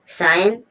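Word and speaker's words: scion: Next word पर चलेंगे साइन साइन means होता है बंस जो ब्स होते हैं साइन मीन्स बंस होता है साइन यहां पर भी एस के बाद सी साइलेंट है।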